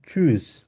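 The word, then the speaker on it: tschüss: এটা আমরা বলবো হচ্ছে চুজ কিভাবে বলবো চুজ কারণ এখানে টি এর উচ্চারণটা থাকবে না এস সি এইচ টাকে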